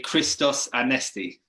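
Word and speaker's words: Χριστός Ανέστη: Easter to you well if you want to say it properly you can say Christos Anesti Christos Anesti yeah and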